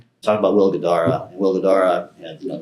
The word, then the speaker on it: Guidara: Okay, so you just recently wrote a blog post and you were quoting I probably butchered the name, sorry. Is it Gardia? Gard- Gard- Gadara? Oh, Will Guidara.